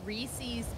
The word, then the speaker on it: Reese's: ] who call it reese's pieces are wrong reese's rhymes with pieces sorry my mother says